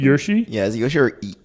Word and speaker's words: Yoshi: Is it Yoshi, or is that pronounced correctly? Yoshi? Yeah, is it Yoshi or Yoshi is actually pronounced correctly. Okay. Okay, good. Okay, I thought it was Yosho.